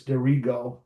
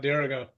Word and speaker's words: Dirigo: No, That's funny because you hear hundreds of people on TV and radio and everything call it Dirigo. Yeah. Dirigo? Dirigo. Is it native? It's derived from Latin.